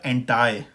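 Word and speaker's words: anti: लेकिन American pronunciation में ये हो जाएगा एंटाई, ठीक है।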